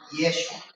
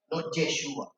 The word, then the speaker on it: Yeshua: decirle el nombre yeshua si lo van a pronunciar bien como lo pronuncian ellos es yeshua yeshua hay diferentes maneras de pronunciarlo no esos son tonos